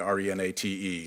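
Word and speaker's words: Renate: you know Renata Renata it's spelled with an e at the end re na te is direct okay and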